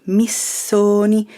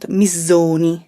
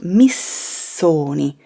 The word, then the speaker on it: Missoni: the name is pronounced missoni be careful don't transform the double s into a z sound it's not mizoni it's miss sony repeat it after me